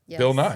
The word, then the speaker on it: Nye: It says Nye. It's Bill Nye.